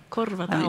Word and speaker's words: Korvat auki: Korvat Auki.